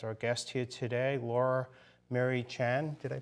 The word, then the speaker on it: Murray-Tjan: we have as our guest here today Laura Mary Chan did I pronounce that right yes you did awesome thank